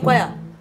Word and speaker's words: choir: As I say choir, are you hearing C inside? Jesus! Are you hearing H inside?